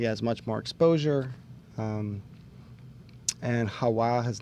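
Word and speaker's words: Jaua: Hawa.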